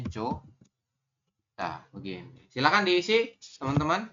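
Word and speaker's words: 좋다: Kemudian yang terakhir ini tulisannya Johda tapi kita bacanya hanya Jo.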